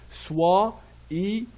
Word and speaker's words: soyons: think the three, okay, the Y will be double I, an I before the previous letter, OI will be wa, and the second and the last I will be pronounced E, like in French, soyons.